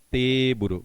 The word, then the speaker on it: teburu: Teburu. Você escreve T, mais um traço alongando, buru. Teburu, que vem de table do inglês.